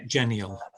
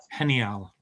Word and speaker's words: genial: Not genial, genial. Clock, Jane, is one of those words that I can never pronounce.